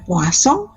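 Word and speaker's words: Poisson: Bernoulli binomial post some tulisannya Poison bacanya puaso kemudian diskrit paling ya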